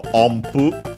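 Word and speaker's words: 音符: And by the way, that n, because of the following pu, is pronounced as m, so ompu, unless you pronounce it separately, and then it's o, n, pu. But yeah, as a whole, when you pronounce it, ompu.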